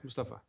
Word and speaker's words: Mustafa: Um How do you want us to pronunciate it cuz no one pronounces my name right. Mustafa is good? Mustafa or is it Mustafa? It's Second one, Mustafa.